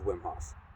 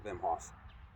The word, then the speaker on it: Wim Hof: I've been doing cold weather training before I knew of Wim Hof, or Wim Hof, I should pronounce his name properly.